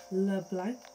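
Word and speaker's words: Leblanc: so we're just going to head over to le blanc here's how you pronounce it anyway we're gonna head over here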